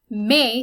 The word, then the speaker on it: mai: Mai sounds exactly like English May, it's very similar.